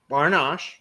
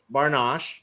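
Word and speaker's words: bar nash: Barnash, really one word, Barnash, right? 4 letters, two syllables.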